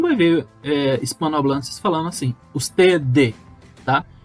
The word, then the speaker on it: usted: Então veja que eu não pronunciei esse D bem forte, né? Bem pronunciado. Eu pronunciei ele de uma forma bem suave, como se eu fosse falar e parasse no meio do caminho, tá? Então é usted.